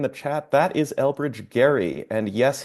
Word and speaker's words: Gerry: chat that is Elbridge Gary and yes his name is actually pronounced with a hard G he drew this District